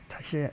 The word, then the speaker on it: Talleres: some in between the the two L's of Spanish of course tieres tashier tieres.